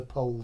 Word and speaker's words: Pohl: is pole Stars so you know how to pronounce it now you know pole stars as in the pole star it's not Paul it's po star pole Frederick pole po star